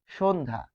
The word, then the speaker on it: সন্ধ্যা: পরে যফলা আসছে ফলে যুক্ত ব্যঞ্জনের সাথে বসলে উচ্চারিত হবে না উচ্চারিত হবে না কিরকম সন্ধা তাহলে এটি হবে উচ্চারণটা আমরা দেখব যে সন দন্তস হয় তালব্য সন এইযেধা দেখুন কোথাও আপনি যফ ফল আর উচ্চারণ পাবেন পাবেন না সন্ধ্যা।